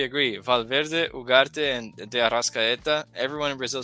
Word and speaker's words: Arrascaeta: Valverde, Ugarte, and De Arrascaeta. Everyone in Brazil says that if Arrascaeta was at this point, you can pronounce his name in Portuguese, Arrascaeta.